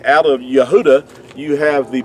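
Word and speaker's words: יהודה: pronunciation of the word Yahudah. Now that's the way that you would pronounce it. Now in our English we say Judah, which is totally inaccurate because there's no J sound in ancient Hebrew.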